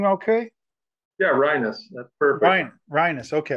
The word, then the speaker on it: Rienas: did I see your last name okay yeah rhinos that's perfect Brian is okay okay good we'll